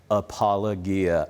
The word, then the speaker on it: apologia: Apologia.